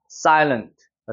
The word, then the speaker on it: silent: 여기 같은 경우는 여기가 이중모음이 적용되니까 어떻게 읽어요? silent가 되는 거예요. silent.